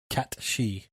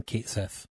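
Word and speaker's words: Cait Sith: seventh party member a little black cat named cat shei which I am going with the true G pronunciation rather than Kate Seth yeah like it's spelled kateth c a i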